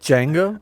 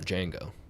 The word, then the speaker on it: Django: and uh you know django was like you know dj you know the d silent and he goes i know that was the actor of the original django oh